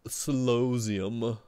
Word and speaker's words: Solosseum: It's pronounced Solosseum.